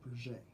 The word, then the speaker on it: Piaget: Yeah, it's got a T, but I think it's pronounced Piaget.